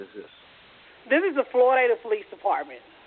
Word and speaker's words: Floydada: This is the Floydada Police Department. Florina? Where is that located? No, it's Floydada, Floydada.